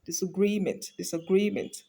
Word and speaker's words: disagreement: So we have, it's going to be pronounced as disagreement. So the clearer or the clearest syllable in that word is what? Gree, because it is longer.